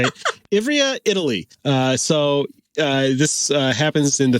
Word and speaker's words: Ivrea: Ivrea, Italy.